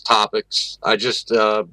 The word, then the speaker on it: TSTOtopix: Usually when I talk about it, I just refer to it as topics.